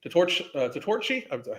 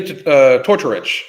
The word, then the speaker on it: Tortorich: It's by Vinny Tortorci. I always pronounce his name incorrectly. Oops. Vinny Tortorich. Vinny Tortorich.